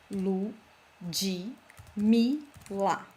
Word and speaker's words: Ludmila: Well, as my name is already big, because notice, it's 4 syllable. Lu, Ji, Mi, La.